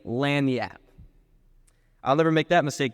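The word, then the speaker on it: lagniappe: hand them over and there was the time I asked what lag nappi was I quickly learned the correct pronunciation a meaning of lanap I'll never make that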